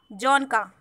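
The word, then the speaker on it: Dzongkha: And the language spoken in Bhutan is Jonka. Jonka. D is silent here.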